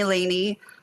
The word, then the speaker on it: Lany: do yeah absolutely and it's Courtney Lany most people pronounce that wrong just because of the way that it's spelled but um yeah I was